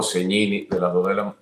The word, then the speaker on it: Segnini: Y bueno, pues un enorme placer, Mira, bueno, soy Segnini o Segnini, de las dos de la manera funciona. Segnini es la forma correcta en el idioma italiano de pronunciar el apellido, porque la S y la G juntas se pronuncian como ñ.